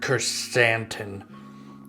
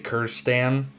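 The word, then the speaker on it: Krrsantan: fett it's good okay so number one black chrysanthemum so i used to say kerstan which is really stupid because now that i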